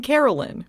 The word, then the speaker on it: Caroline: Also, maybe this is a potato potato situation, but it amuses me that Numei pronounces her name Carolyn.